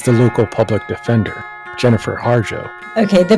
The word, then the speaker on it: Harjo: of them is the local public defender Jennifer harjo okay the pronunciation of my last name is harjo h a RJ o appointed as New Hanover